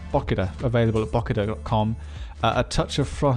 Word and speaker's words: Bokida: Is that the proper pronunciation? That is right, isn't it, Pete? Bokida. Bokida.